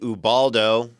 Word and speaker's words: Ubaldo: Hate said the B sound like a V.